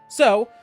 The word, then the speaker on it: Strahd: So, I die a little inside every time you pronounce fun with V.